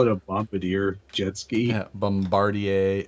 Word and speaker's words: Bombardier: deer jet ski or let's call it a Bombardier jet ski Bombardier how do you say that thank you Bombardier Bombardier fresh France we from Quebec yes so yeah